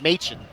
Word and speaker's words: Machin: We just found out, to tournament say- director Matt, it's Machin. I've always said it wrong my whole life.